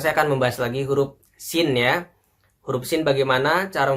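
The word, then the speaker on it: سين: Nah, sekarang saya akan membahas lagi huruf sin ya. Huruf sin bagaimana cara membacanya? Cara membacanya adalah ujung lidah ditempelkan pada gigi kita yang paling bawah ini di ujung sini.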